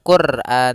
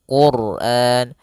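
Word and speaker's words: القرآن: Apabila ada huruf ro sukun didahulukan dengan dua huruf yang berharakat damah dan fathah, maka dia akan dibaca dengan tebal. Bukan Quran tapi Quran.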